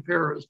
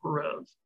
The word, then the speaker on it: Perez: By the way, Spike, he pronounces his name Perez, not Perez.